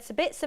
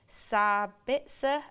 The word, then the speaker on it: Sabitzer: Austrian and I think sabitsa would be a great signing for us but please pronounce him sabitsa and not sabitsa you're great sabitsa his